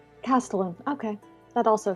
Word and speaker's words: castellan: Oh, Google has told me it's Castellan. Castellan.